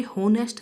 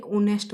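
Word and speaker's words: honest: जैसे कि यहाँ पर आपने देख लिया ऑनेस्ट, तो ये होनेस्ट नहीं बोला जाता है, ओनेस्ट बोला जाता है।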